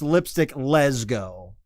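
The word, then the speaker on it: Lipstick Lesgo: doing it again uh it's lipstick les go as in uh a lesbian saying let's go right that's i mean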